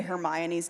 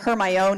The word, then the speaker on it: Hermione: name yes yes yeah it was like a fight between people of like Hermione or my own II her my own II that's what I thought it was I read it pretty phonetically her my own her my own yeah so not how you say it that's not how